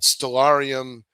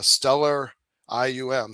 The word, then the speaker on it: Stellarium: I had Stellarium, it's pronounced Stellar IUM, Stellarium on my phone, which is